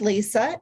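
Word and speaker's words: Lysa: always explain to people my name is Lisa with a Y so it's spelled l-y-s-a but God also told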